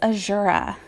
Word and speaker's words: Azura: Speaking of Shigure, I recently learned that I have been pronouncing his mom's name wrong for like years. According to Dream Prince Corrin, it's Ashura.